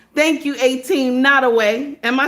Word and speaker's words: Nottoway: Nottoway. Okay, I thought it was not. I'm saying it wrong. Thank you, 18 Nottoway.